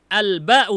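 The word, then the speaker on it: الباء: Al-ba'u bacanya, bukan bi nanti ya ketika di i'rab.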